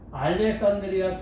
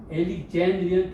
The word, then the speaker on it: Alexandrian: 그래서 이걸 읽을 때도 우리는 알렉산드리아 텍스트라고 하는데 그거 아니면 엘릭젠드리안 텍스트라고 해야 돼요. 알렉산드리아 말은 없어요.